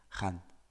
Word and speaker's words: gaan: Listen to me say this word with a short A and then with a long A, gaan. Gaan, gaan, gaan. If you use the short A, Dutch natives will immediately label you as French.